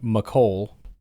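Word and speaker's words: Mecole: I'm a little surprised by Mikle, but excited. Or excuse me, Micole.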